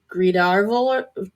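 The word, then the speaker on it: Gríðarvölr: But he also had a staff known as Gridarvol. Yep, that's how you pronounce it.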